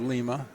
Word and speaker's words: Lima: We have Lima instead of Lima. Shot is up and good by Justin Reagan. New announcers on Toledo radio stations will pronounce Lima as Lima.